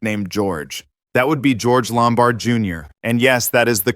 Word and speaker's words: George Lombard Jr.: That would be George Lombard Jr. and yes, that is the correct pronunciation.